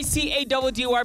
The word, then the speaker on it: Caddy: It's your boy C-A-D-D-Y pronounced Caddy.